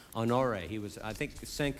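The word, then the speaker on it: Honoré: I'd urge you again to read, there's a memorandum for the record produced by Major General Russell, I think his name's pronounced Honore.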